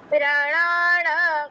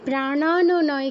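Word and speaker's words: প্রাণান্: মুদান সামানকম প্রাণ কল্যাণা ঠিক আছে প্রাণ নয় কিন্তু প্রাণান ন এর নিচে হসন্ত আছে না তারপর তিনটি স এর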